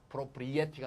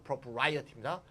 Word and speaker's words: propriety: 발음 잘하세요. propriety가 아니고 propriety입니다.